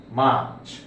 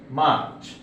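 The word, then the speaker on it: March: এই ক্ষেত্রে মার্চ আমরা প্রায়শই মার্চ উচ্চারণ করি, আসলে শব্দটা মার্চ হবে না, কারণ যখনই আর এর পরে কনসোনেন্ট সাউন্ড থাকে সেই ক্ষেত্রে আর উচ্চারিত হয় না। মার্চ, মার্চ।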